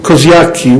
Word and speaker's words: Kościuszko: map of Europe, Tadeusz Kościuszko, I know that this very pronunciation could be quite difficult for you, but I wonder if I say Koziaki, which is Australian pronunciation.